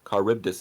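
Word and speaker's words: Charybdis: fun fact oh wait no car ripped us caribbtus is how you pronounce the world per world pool monster fun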